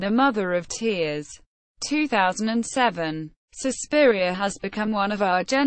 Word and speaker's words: Suspiria: Suspiria, pronounced susઃpi.ri.a, Latin for sized, is a 1977 Italian